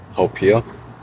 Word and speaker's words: haupia: but that's how you say it in Hawaiian, haupia.